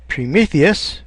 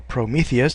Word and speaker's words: Prometheus: little bit about background Prometheus or Prometheus depending how you want to pronounce it was a Titan